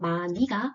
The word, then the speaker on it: 많이: 뒤에 모음이 붙었기 때문에 히읗은 탈락되고 또 다른 겹받침 중에 하나인 니은이 연음되어서 마니가 표준 발음입니다.